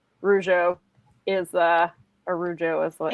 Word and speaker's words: Rougeau: So we also have confirmation that your pronunciation, Rougeau, is a Rougeau is what.